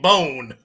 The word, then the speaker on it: Bohn: Don't pronounce the H in Bohn. The Boo H Nelson is the silent.